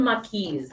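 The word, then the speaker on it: maquis: They call them makis. M A Q U I S. I think that's probably roughly how they say it, but again, I could be totally wrong.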